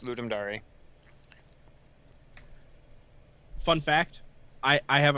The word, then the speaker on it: Ludum Dare: or like his friend pronounced it ludum dare to so it's like you know it's ludum dari fun fact I I